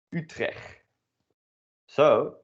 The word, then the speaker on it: Utrechts: Utrecht. So that is maybe the city that you're living in, Utrecht, but then pronounced according to local dialect, which is also called Utrechts.